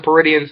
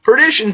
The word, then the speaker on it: Perdition: __ ] say that nobody ever told me i keep calling him peridian so perdition cell there we go that's how you say it perdition tradition cell february